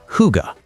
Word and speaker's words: hygge: Welcome to Scandinavian design, built around a Danish concept called hygge, pronounced hygge.